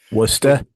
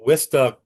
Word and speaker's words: Worcester: by the um Worcester, I'm using the Boston pronunciation, Worester, the Wista Country Club, and um a very famous, we're talking Wararchchester, right?